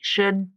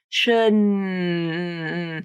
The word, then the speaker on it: should: Okay, so that's the unreleased D. Should. And it's not an N consonant. That's the other thing that people might do. Should. If you can hold out this sound, you're making an N. Okay, you're not making a D. Should. The D, you can only hold out for like a couple of seconds maybe before all the